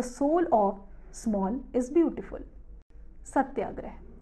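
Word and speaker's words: Satyagraha: of small is beautiful Satya grey subtle grey he pronounced Serta gray is a compound of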